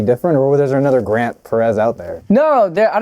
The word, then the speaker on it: grentperez: it's your name but then it's Grant yeah it's pronounced you know Grant Perez yeah all together like is that is